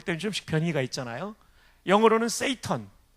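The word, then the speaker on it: Satan: 영어로는 세이턴. 우리 식으로 읽으면 사탄인데 그 사람들은 발음을 세이턴이라고 하죠.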